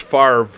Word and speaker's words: Favre: It's pronounced Favre.